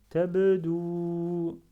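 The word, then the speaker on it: تبدو: Je prononce à la fin, parce que da avec dhamma, ça donne dou, suivi de waw sans accent. Je prononce le dou. Dou. Et ça donne tabdou. Tabdou.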